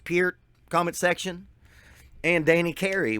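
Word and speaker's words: Peart: say it's neil it's neil peer it's pronounced pier comment section and danny carey what more could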